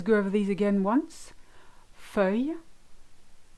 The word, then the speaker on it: feuille: So the first one I've chosen is feuille. Feuille. You've got E, which is the EU, the ILL make the sound Y, and then the E is silent.